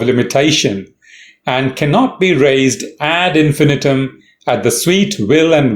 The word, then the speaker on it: ad infinitum: but expressing bit so add infinum pronunciation you stress on Fe add infinum add noan no what